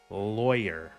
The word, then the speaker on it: lawyer: Lawyer. It rhymes with boy.